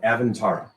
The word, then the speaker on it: Avyntara: Welcome, ladies and gentlemen, to the world of Avantara.